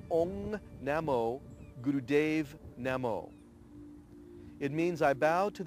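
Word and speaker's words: Ong Namo Guru Dev Namo: In Ten Body Yoga, we use what's called the Adi Mantra, which is pronounced Ong Namo Gurudev Namo.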